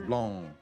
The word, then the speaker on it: Blanc: It's French, so you don't really pronounce the C's. Blanc.